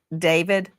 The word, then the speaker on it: D4VD: What a coinkydink that David, some people look at his name and it looks like D4VD, and he pronounces it David.